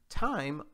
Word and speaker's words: thyme: right guys and you pronounce it just like it's spelled t-i-m-e thyme also known as thymus vulgaris is an herb